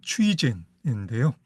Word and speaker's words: 崔健: 최건이라는 이름이 중국어 발음으로는 추이젠인데요.